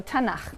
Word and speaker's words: Tanakh: also on that sheet Tanakh which is really the letters to and huh and they put little A's in there to make it easy to pronounce because it's hard to pronounce so tena okay and this is